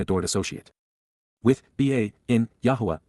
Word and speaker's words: Yahowah: in Yahowah, Yahowah, the proper pronunciation of the name of Eloah, God as